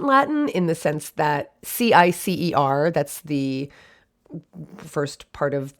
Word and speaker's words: cicer: It would be cicer is how it would have been pronounced in like properly in Latin. The C's in Latin were hard.